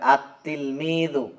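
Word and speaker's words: التلميذ: plus তিলমিদুন তাহলে এক্ষেত্রে হবে আতলমিদু এটা দেখেন উচ্চারণে আসছে এইভাবে কিন্তু আসলে লেখায় আসবে এইভাবে আত্তিলমিদু অর্থাৎ লাম যে হরফটা আছে এই হরফটা এই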